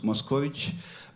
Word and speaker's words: Moscovici: Un autre exemple, Moscovici, ou si on le prononce à la manière roumaine, Moscovici, encore une connotation que